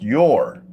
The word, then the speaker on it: Yor: Pronounced your. Okay. Like Y-O-R.